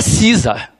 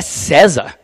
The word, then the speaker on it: César: com essa sonoridade e não é cinza é sesa esse é o meu